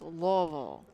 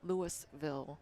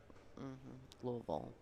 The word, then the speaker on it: Louisville: Billiards and Bar in Louisville Kentucky and it's pronounced Louisville Louisville not Louisville or Louisville Louisville all right and these two balls ladies and